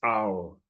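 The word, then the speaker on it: hour: This first word is read as owl, but you don't hear H. You don't hear the sound of H. It's silent.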